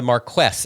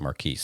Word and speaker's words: Marquess: so he's above an Earl so anyway the Marquess and that's the correct pronunciation because I looked it up I was going to call it Marquis but the Marquess of Queensbury so his son's dating Oscar Wilde